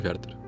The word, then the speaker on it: Werther: O personagem Werther, que aliás se pronuncia muito parecido com Goethe em alemão, teria sido um reflexo desse sentimento.